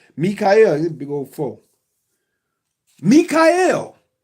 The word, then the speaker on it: Michael: Spelled Michael, but pronounced Mikhael.